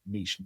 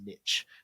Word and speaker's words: niche: lecturer came out with the the you pronouncing the word niche niche. It was the first time I've ever heard an American butcher that wonderful French word.